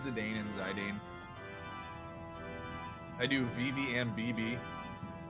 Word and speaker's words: Zidane: says the Dane and Zidane I do VV and BB so I do both his okay and JP pronunciation at least you don't say zaidon that is just Criminal all right I do